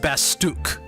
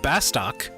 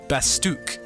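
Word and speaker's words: Bastok: now I do realize by the way it's pronounced basuk not bastock basuk don't blame me that's how they pronounce it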